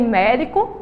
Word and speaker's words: médico: tem aí ó tem médico e tem vovô vamos lá médico você vai ver que a sílaba tônica de médico é um É certo que a